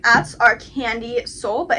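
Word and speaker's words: Kandyseoul: tock so they're all their like apps are candy soul but it's spelled a little different it's about k a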